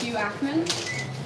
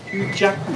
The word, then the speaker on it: Hugh Jackman: Apparently we're pronouncing it as Hugh Ackman. Hugh Jackman.